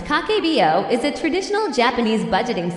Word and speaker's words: Kakeibo: Kakebo, pronounced Kakbo, is a traditional Japanese budgeting system.